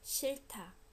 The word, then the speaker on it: 싫다: So what is happening phonetically? You do realize that if there are two consonants ending a syllable, they get split. One stays with the first syllable, the second one goes up. So 싫다, aspiration happens, right? 싫다, 싫다, 싫다. 싫어요, 싫어요. When it's followed by a vowel, h almost disappears, so it's as if it doesn't exist.